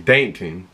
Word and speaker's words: Dankton: saying his name wrong it ain't Plankton it's dton dton I don't know how